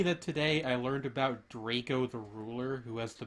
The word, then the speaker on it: Drakeo: Drakeo. Okay. Drakeo? No, Draco. it's pronounced Draco, but it's spelled like it would be pronounced Drakeo.